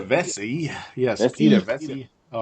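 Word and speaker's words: Vecsey: Peter Vexy, is it? Peter Vesey.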